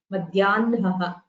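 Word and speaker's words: मध्याह्नः: So the hakara followed by nakara, it is the usual rule where the nakara is heard first. Madhyanaha.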